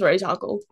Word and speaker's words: Ra's al Ghul: Batman Beyond didn't like he taught Bruce how to pronounce Ra's al Ghul.